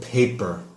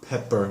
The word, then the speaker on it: pepper: say on their birthday when you said black pepper it sounded like you said paper so pronunciation make sure it's a short e pepper not paper I very enjoyed just